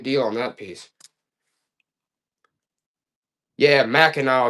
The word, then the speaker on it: Mackinac: Yeah, Mackinac is how you say it.